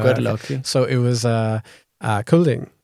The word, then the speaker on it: Kolding: So it was Kolding. Kolding. Yes. Wow, so cute. Thank you for saving my pronunciation.